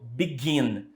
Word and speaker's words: begin: Begin. Begin tem a sílaba tônica no final, gin, ok?